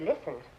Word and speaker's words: listen: The T in the word listen is a silent letter.